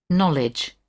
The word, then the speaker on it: knowledge: Knowledge. Knowledge. Okay, so which is the letter or letters that are silent? Diego. The K. The K. K. Knowledge. Right. Not pronounced.